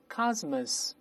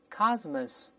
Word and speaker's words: cosmos: 声读一下 cosmos，中间发 z，后面发 s，再来一遍 cosmos，这是宇宙